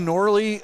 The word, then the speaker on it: Knorley: Also of note, Jace Knorley, that is how you say his name, not Norrell, and it's haunted me ever since on the game day video.